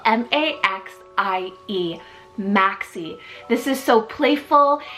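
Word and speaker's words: Maxie: list off today we have the sweetest name Maxi it's spelled m-a-x-i-e Maxi this is so playful it kind of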